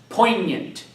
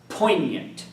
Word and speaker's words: poignant: The sixth word at the bottom of page 72 is pronounced poignant. Again, poignant.